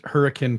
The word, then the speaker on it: Hurricane: did I pronounce that correctly bill you you pronounced hurricane correctly it's the only place on the planet